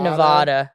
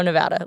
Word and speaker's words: Nevada: Not not Nevada. Oh my goodness. I I have corrected board of trustees members, chancellors on how to say it properly. Everyone's like, "Oh, like Las Vegas, Nevada." I'm like, "Nope, Reno, Nevada." Like very different.